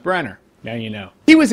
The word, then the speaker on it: Branagh: you pronounced his name branner i didn't know that but it's spelled branagh it's pronounced branner now you know he